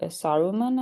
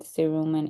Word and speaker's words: cerumen: So the fancy word for earwax is cerumen, however you want to say it. And depending on who you listen to, British people pronounce it saruman, I think. And then we pronounce it cerumen in the United States.